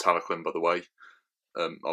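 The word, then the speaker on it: Talyllyn: Um, I've actually seen Talquin um at Walle at the NC in Birmingham. I had my photo taken alongside it. Um, and Talquin was the one that um is pronounced Taloquin, by the way.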